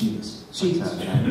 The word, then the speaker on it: Szybist: The name is pronounced Szybist.